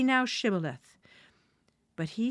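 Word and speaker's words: Shibboleth: Then they would say to him, "Say now, Shibth." But he said, "Scaleth." for he could not pronounce it correctly.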